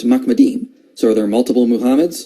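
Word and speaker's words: מחמדים: The way you pronounce this word is Mahmed. In this passage is plural, so it's Mahmedim.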